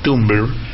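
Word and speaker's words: Tumblr: como Blue Sky y tumbl casi impronunciable porque es como tumbler pero si le sacas la e es Tum el mundo hoy es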